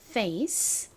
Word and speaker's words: face: 오는 경우 주로이 a는요 알파벳 이름처럼 단어 속에서 a이라는 소리로 발음이 됩니다 자 한번 얼굴 페이스 써보도록 할게요 펜 들어주세요 f 다음 a 쌍시옷 소리 나는 C 마지막 2 face 한 번 더 써볼게요